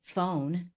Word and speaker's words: phone: If you think about the word like phone, that's a really complicated word. You know, the PH makes a very specific sound. The E is making that O make that long sound. It's actually just one syllable.